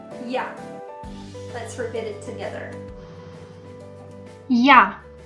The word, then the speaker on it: я: first word is I it's very easy to pronounce it sounds like yeah let's forbid it together